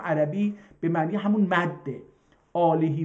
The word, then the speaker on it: آله: به حرمت محمد و آله و صحبه اجمعین اینجا روی ه دو چشم گذاشته یعنی حتما باید این رو ه تلفظ بکنید و آلهی رو حالا